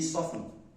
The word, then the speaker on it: soften: The T is silent, so you say soften.